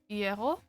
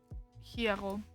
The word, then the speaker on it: hierro: Lots of hierro. Hierro. Not pronouncing the H is also something I'm gonna have to try and remember.